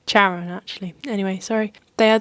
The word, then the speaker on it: Charon: able to pay Chiron or it's not Kar so it's just spelled like karon Charon actually anyway sorry they